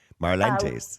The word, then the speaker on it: Marlantes: Again, I hope I'm pronouncing Marlantes properly, but there you go. Marlantes Healing. Close enough. Yeah. What do you mean close enough? Do it properly for me then, so I get it right. Marlantes.